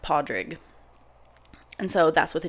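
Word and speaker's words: Pádraig: a d r a i g which is pronounced padrig and so that's with a d so um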